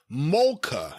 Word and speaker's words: Malka: Of course, Malka's angry boyfriend, eligible for the top 10, almost got in. Malka is pronounced more like Molka, and he wrote MOLL-KUH. Molka. It means queen.